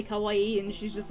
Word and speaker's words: kawaii: the same way - the extra eye and an O instead of an A means scary which my roommate likes